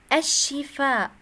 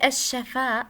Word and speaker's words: الشفاء: الشفاء healing. There's كسرة for شين. It's not الشفاء with فتحة.